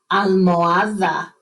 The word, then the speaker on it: almohada: Not almohada. Don't pronounce the H. We never pronounce the H in Spanish. Almohada.